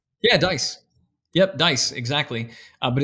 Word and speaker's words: Deiss: I pronounced it Deiss, as in rolling the dice. Yeah, Deiss. Yep, Deiss, exactly. But it's spelled Deiss. So it's pronounced Deiss, Diaz.